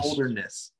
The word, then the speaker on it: Holderness: Holderness. Yes. The Holderness family. That's not easy fucking. What's their team name when they like show the name on the thing? The Holdernesses?